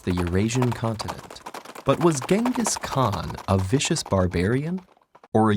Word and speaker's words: Genghis Khan: First of all, it's pronounced Chinggis Khan.